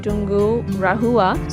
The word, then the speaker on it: Tungurahua: So I pronounce it in this manner, Tungurahua.